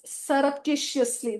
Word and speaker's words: surreptitiously: It is surreptitiously. That's how it is pronounced.